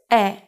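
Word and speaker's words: 의: more time yes but when ui is used as a particle it is usually read as e because it's easier to say yes then what about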